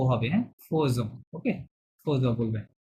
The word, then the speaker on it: faisons: এখানে বেসিক্যালি লেখা আছে ফেজন লেখা আছে, হ্যাঁ, কিন্তু ফরাসিরা বলে ফোজন, এটা একটা এক্সেপশন, ঠিক আছে। লেখা আছে ফেজন, বলে ফোজন, সুতরাং তারা যেভাবে বলে আমাদেরকে সেভাবেই চলতে হবে, ঠিক আছে।